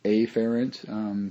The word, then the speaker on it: afferent: I will usually pronounce it afferent, so it doesn't get confused down here with the efferent division or the efferent.